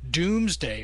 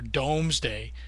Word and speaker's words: Domesday: It's William who increases local shire power over that of the earls, and in 1086 establishes the Doomsday, or Domesday, depending on how you want to pronounce it, as a chronicle of what was actually in the kingdom.